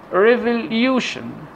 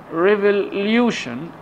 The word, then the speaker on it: revolution: or s io n let's have some examples revolution revolution Lucien this is Lu the the syllable before the tion it should be stressed